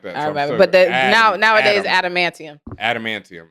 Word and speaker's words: adamantium: how you pronounce it grown up I always pronounce it like that but now nowadays adamantium adamantium it's always been that I just said